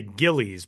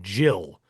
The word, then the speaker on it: Gillies: Now, I would look at it and say Gillies, but that guy pronounced his last name Gill.